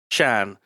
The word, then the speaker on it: Xan: Is it XAN? What's that? How's that pronounced in like Chinese? Shan. Hanoi Shan.